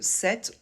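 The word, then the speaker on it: sept: toujours le t et pour la prononciation de 7 on ne prononce pas le P je vous mets le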